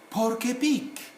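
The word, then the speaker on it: porc-épic: And so, por alone is silent C there. But when we come to the junction, it now becomes pronounceable, audible. For example, here we should say porc épic, porc épic.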